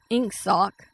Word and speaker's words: Ingsoc: And the sign is Inksock, which is spelled INGSOC.